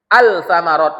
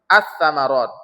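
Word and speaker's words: الثمرات: Attsamarat bukan altsamarat kan? Tapi atsamarat.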